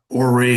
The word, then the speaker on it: Horry: Horry, Horry. H is silent.